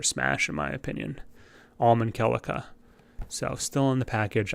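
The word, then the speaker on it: Celica: i was i was mispronounced her name as it it's kellika right kellika who would have been a really great choice for smash in my opinion almond calica so still in the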